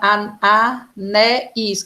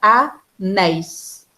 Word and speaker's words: anéis: Não é anéis que a gente separa, não. A gente separa anéis. Tá? Anéis. Por isso que a gente vai dizer que ela é oxítona. Porque a sílaba forte é a última.